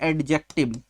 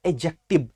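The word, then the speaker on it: adjective: समझाकर जैसे कुछ बच्चे जैसे मैंने लिख गए इधर एडजेक्टिव यही पढ़ते हो आप लोग क्या पढ़ते इसको एडजेक्टिव प्यारे बच्चे इसमें डिप साइलेंट होता है इसमें क्या होता है यह जोडी सब लिखा है ना यह डिश साइलेंट होता है और इसको हम नहीं पड़ते हैं तो DJ मिला देंगे तो बचेगा एगजेक्टिव जैसे आपको प्रीवियस वीडियो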